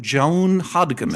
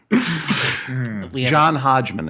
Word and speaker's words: John Hodgman: famous comedian Joan hogapacon it's pronounced excuse me and excuse me unsolicited caller it's pronounced John Hodgman is my name and special guest John